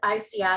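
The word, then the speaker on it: ISEAI: and you know um i've been involved with ici so for those of out there who aren't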